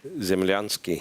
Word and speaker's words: Zemlyansky: As of 2025, Ivan Zemlyansky, how do you pronounce that, by the way? Zemlyansky.